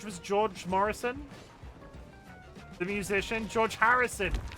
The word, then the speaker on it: George Harrison: I want to say George Morrison, but I always say it wrong. I love pets that have food names. George was George Morrison, the musician. George Harrison. I always say Morrison and not Harrison.